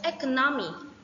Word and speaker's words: economy: For example, economy from economic. Stress on the second syllable.